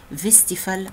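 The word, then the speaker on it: Westphal: في نيوكليوس تانية بارا سمباثيك اسمها ادينجر فيستيفال نيوكليوس، هي اولها دبليو فيستيفال، بس بتتنطق في لان اللي اكتشفها الماني فيستيفال.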